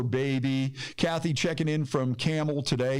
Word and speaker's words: Campbell: kathy checking in from camel today you notice i said it properly even though it's spelled c-a-m-p-b-e-l-l campbell campbell he doesn't even